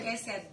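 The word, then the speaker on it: חסד: Tulisannya gini, C-H-E-C-E-D. Ceset tulisannya. C-H-E-C-E-D. Bacanya keset. Keset.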